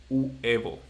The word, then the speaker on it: huevo: egg, by the way, the right pronunciation for this, it should be huevo. Huevo. Okay? Yeah. Mm-hmm. Uh-huh. But so many people pronounce this so fast that people says they don't say huevo.